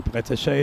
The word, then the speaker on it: Breteche: I also spoke to Cindy yesterday, Joe, and I think she herself said that it's pronounced as Breteche as opposed to what we're hearing here in the chat.